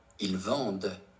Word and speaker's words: vendent: Even though the entire ent ending is silent, the presence of the e means that the d in vendre is pronounced. Once again, if the speaker is speaking slowly and enunciating, you may hear a slight sound at the end. Okay, let's listen. Ils vendent. Okay. Ils vendent, which means they sell, masculine.